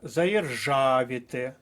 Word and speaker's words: заєржавіти: але благовіст далі рухаємося заєржавіти наголос на третій склад пишемо до третьої колонки заєржавіти вантажівка наголос на